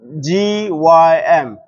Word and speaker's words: gym: Okay, another example I can give you is G Y M. How do you pronounce this? Gym.